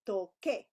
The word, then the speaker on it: toque: But you want to say toque. So again, think about, remember que, like que pasa, right? How do you spell that? Que. And then you remember the u doesn't sound. And then here is the opposite, tsar, right?